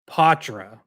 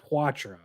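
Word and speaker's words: Poitras: pronounce his name and he said potra not quatra so like good okay French ish but not not the full French um so I'm gonna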